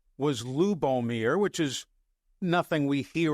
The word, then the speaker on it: Lubomir: He said, "Yes, his name pronounced exactly the way it look." Well, his first name was Lubomir, which is nothing we hear around Alabama regularly, but it's not that difficult of a name.